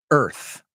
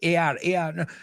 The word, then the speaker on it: Earth: Earth. Yo creo que la forma más fácil, imagínate la palabra sin la A. Does that help? Earth. Porque siempre quieren añadir una sílaba, además. ER. No, Earth.